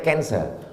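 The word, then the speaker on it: cancer: darah menggumpal-menggumpal menjadi kanser tulisannya c a n c e r orang barat membacanya canser orang kita susah menyebut kanser kenapa nih kanker maka menggumpal dia dalam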